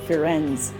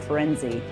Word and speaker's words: Firenze: I must have heard Friends, but he actually said his name and he pronounced it Firenze, not Firenze.